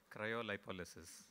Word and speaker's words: cryolipolysis: at cryo label said cryolipolysis there is actually a far cleaner pronunciation which i'm going to have the gentleman tell you cryolipolysis yeah that's the one so basically what is